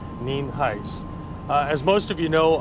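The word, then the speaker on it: Nienhuis: hiset spelled ni en hu is and it's pronounced neem heights as most of you know about 848 last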